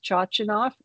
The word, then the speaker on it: Chochinov: And the man who pioneered dignity conserving care is Dr. Harvey Max Chochinoff, and his name is spelled Chochinov, his last name.